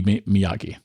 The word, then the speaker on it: Miyake: I think that's how you pronounce their name. It would be Miyake.